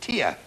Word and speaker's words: Tija: Ah, Tija is pronounced Tia.